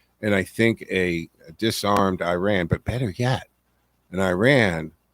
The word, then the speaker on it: Iran: You can go back, man, the pictures of the 60s and 70s, Iran is the proper way to say it.